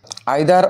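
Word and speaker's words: either: আইদার অর নাইদার নর দ্বারা যুক্ত থাকতে পারে। অথবা নাইদার নর আমরা এটাকে ইদার অর নিদার নর হিসেবে উচ্চারণ করতে পারি।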